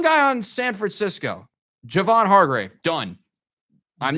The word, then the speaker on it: Hargrave: what did I say it as Chad it's Hargrave it's Javon Hargrave the the Cowboys should sign